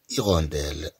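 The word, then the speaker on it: hirondelle: أن نوم أن نوم رجل إين إيغونديل. إذا نتكلم عن نوع من الطيور يسمى السونونو. إين إيغونديل إين إيغونديل. إذا كما تلاحظوا بأن أش لا تنطق هنا.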